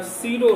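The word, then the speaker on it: pseudo: आभासी ठोस, जिसका इंग्लिश होगा सीरो सॉलिड। पे साइलेंट रहता है, सीरो सॉलिड।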